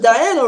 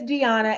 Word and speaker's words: Diana: Kind of, I was, you sound like you said Deanna or whatever, and I was like, really, Omar? It was Diana, right? No, it's Deanna.